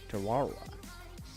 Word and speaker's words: Tarawa: Oh, I wanted to figure out how to pronounce this. Tarawa, Kiribati. Tarawa.